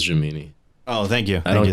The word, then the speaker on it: Gemini: J mini man oh it's Gemini man but it looks it sounds funnier if I say jamini jamini man no you said it right it is jamini oh thank you than